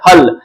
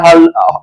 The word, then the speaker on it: हल: अ बराबर बनता है हल ल पर यहां पे अगर हल बोलते हैं हल आप गण सकते हैं ह ल नहीं बोल सकते हैं जैसे कि ह ल नहीं बोले हल यहां जो है ना